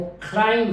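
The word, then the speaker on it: climb: गलत बोला जाता है इसकी जो एट प्रोनंसिएशन है व क्लाइम है मैं से एंड हो रही है क्लाइम क्लाइम यहां पर ब नहीं है पलमा फलमा फलमा फलमा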